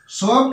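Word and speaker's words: soaked: আর আর এটার হবে এটা তোমরা জানো রাইস সোফট রাইস এটা কিন্তু উচ্চারণটা কি হলো দেখো ইডি যুক্ত হয়েছে ইডি যুক্ত হলে কিন্তু এখানে উচ্চারণটা কিন্তু দন্তস ওকার পয়ে ডয়ে এরকম উচ্চারণ কিন্তু হবে না সোড হবে না উচ্চারণটা কি হবে উচ্চারণটা হবে দন্তস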